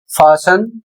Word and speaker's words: fasten: इसी तरीके से अगला शब्द है एफ ए एस टी ई एन फासन और इसकी हिंदी होती है कसना या फिर बांधना।